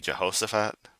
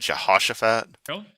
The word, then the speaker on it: Jehoshaphat: I think he pronounced that incor incorrectly. This is supposed to be Jehoshaphat. He said Shahashosafhat.